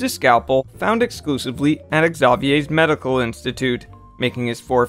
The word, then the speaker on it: Xavier: And yes, it's pronounced Xavier, not Xavier.